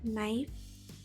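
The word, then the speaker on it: knife: Next के when के comes before N it's silent mean that अगर शब्द के शुरुआत में के बाद एन आता है तो के साइलेंट होता है। For example नाइफ नी नो।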